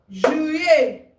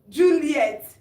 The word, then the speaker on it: juillet: Juillet. Août. Septembre. Octobre. Novembre. Décembre. Décembre. Janvier. Février. Mars. Avril. Mai. Juin. Juillet. Juillet. Some people mispronounce juillet, which is July, as Juliet. It's not Juliet, it's juillet.